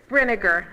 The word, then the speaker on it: Brenniger: For Johnson Elementary, Alice Barnes, Betty Bringer, tell me how to pronounce it. So Brenniger. Okay.